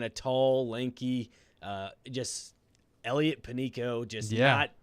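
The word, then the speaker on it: Panicco: I think pronounce it Panico? I think so. Because they did Panicho or something. I believe it's Panico because they did a little Panico at the disco for their Twitter.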